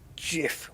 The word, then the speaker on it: GIF: the on the screen it says it's next screen pronounced and the whole audience was waiting and it came out JF with a J and the audience just